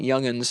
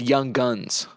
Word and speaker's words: young'uns: So it wasn't young'uns, it was young guns.